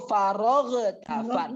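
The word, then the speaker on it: فرغت: Nah, kita agak bacanya itu faroghtan. Supaya apa kita baca faroghtan? Kadang membaca gitu supaya ro kita terdengar. Tapi jangan sampai demi ro huruf ro kita terdengar, kita bacanya farogh. Jangan ada farogh.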